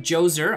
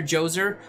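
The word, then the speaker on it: Djoser: the next one here is Joe's er I believe that is how you pronounce it if I remember from my history class correctly so this hero is named after Joe's er an ancient Egyptian pharaoh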